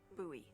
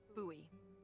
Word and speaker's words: Bowie: out this huge Rusty Bowie knife it's actually pronounced buoy what no it's like the last name like David Bowie different last name buoy are you just messing with me no that's